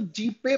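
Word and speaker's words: GPAI: कहा जाता है, या जिसको जीपे प्रोनाउंस किया जाता है ना, तो जीपे प्रोनाउंस करते हैं इसको।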